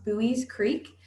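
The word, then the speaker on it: Buies Creek: The name of our town is pronounced Bowie's Creek, and it is small.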